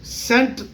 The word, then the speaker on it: cent: CENT سینٹ کا تلفظ ہوتا ہے, کچھ لوگ کینٹ پڑھ دیتے ہیں, مگر CANT کو کینٹ پڑھا جائے گا, کینٹ.